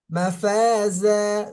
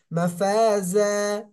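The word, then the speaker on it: مفازا: মুত্তাকিনা মাফাজা মাফাজা যার উচ্চারণটা হবে জিহ্বার আগাটা সামনের নিচে দুই দাঁতের আগার সঙ্গে স্পর্শ হবে নিচের মাফাজা মাফাজা সবাই বলেন তো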